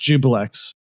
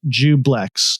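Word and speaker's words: Juiblex: But it is pronounced jubillex. Yeah, it is pronounced or no, it's pronounced jubillex. Jubile. So the I is silent, I guess.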